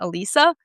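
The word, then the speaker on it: Alysa: Even Alyssa Liu, like Alyssa, her actually, I think she actually pronounces her name Elisa.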